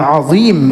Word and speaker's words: عظیم: اللہ تعالیٰ کا انعام عظیم، اس کو زبان صحیح تلفظ سے ادا کرنا ہے. وا زبان کو سامنے والے دانتوں میں لگائیں گے تو وا ادا ہوگا، سبحان ربی العظیم.